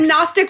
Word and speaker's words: Gnostic: Gnostic is sure oh is that Gnostic with is that with the silent G yeah it's the idea